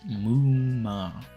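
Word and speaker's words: 夢魔: Saeed said, in Japanese, the sleep tids are written as MMA and pronounced as Mu-ma.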